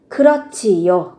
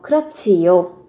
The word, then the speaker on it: 그렇지요: Ở đây đằng trước là phụ âm hờ, theo sau là chờ. Thế thì khi mà nó gặp nhau hai cái phụ âm này, các bạn sẽ phát âm thành âm chờ bật hơi.